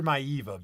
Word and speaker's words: Maivia: Now, is it pronounced Peter Maivia or Peter Maiva? I've heard it's Maivia. Billy Graham used to say Maiva, but what happened was Billy Graham is.